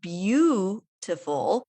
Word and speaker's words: beautiful: But if you listen to it, beautiful, there's this mysterious Y sound that just appears in there.